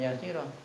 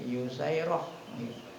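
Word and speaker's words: يُسَيْرة: Madmuna, bacanya didomahkan, jadi bukan Yasirah, ya. Madmumah yang didom, yusai jadinya yusairah, ya.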